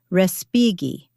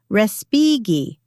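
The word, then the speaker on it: Respighi: Respigi. Mom, Christopher said beside me. It's pronounced differently. Respigi.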